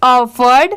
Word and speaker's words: offered: ED ऐड हुआ तो इसे पढ़ेंगे ऑफर्ड। आप इसकी स्पेलिंग याद कर लीजिए, OFFERED, ऑफर्ड।